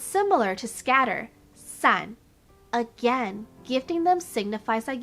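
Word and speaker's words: 伞: of your life umbrella umbrella in mandarin is sun which sounds like the word for scatter san giving umbrellas as a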